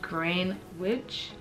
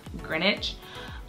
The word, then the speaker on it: Greenwich: absolutely love it um it is feel like green witch village but it's actually pronounced greenwich um yes so this is like my number